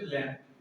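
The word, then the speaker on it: lamb: Spelling में तो बी आता है, लेकिन क्या बोलते हैं उसे? लैम, ठीक है ना।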